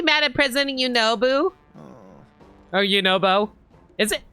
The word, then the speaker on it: Yunobo: Is it Yunobu or Yunobo? It's okay, Slurgo. I'm the one who made such a mess of things after all. If I had just been more careful. Yunobo. Okay. I've been always pronouncing it as Boo for some reason.